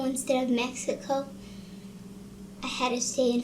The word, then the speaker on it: Mexico: Mr. Brown said, Felix, here we say Mexico. If you were in Mexico, you could say Mexico. But when you're in California, you say Mexico. Otherwise, it would just be rude. Do you understand, Felix? yes. The word is pronounced Mexico.